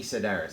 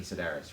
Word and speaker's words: Sedaris: in the cantina and amy cedars that's amy sedaris right yes and i guess like